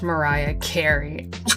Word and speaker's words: Mariah Carey: Thinking about the time that I said that I was distantly related to Maria Carey, and a guy explains it's pronounced Mariah Carey.